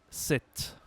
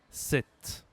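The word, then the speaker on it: sept: Nombre suivant 7. 7. Là aussi c'est spécial. Il y a le P avant le T. Mais on ne prononce pas le P. On ne dit pas Sepcepte, on dit 7.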